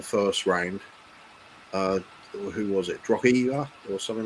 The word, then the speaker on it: Drogheda: Yeah, it's Drogheda. Even though I have problems pronouncing it, but it is Drogheda. It was Feyenoord in the next round, if I remember rightly.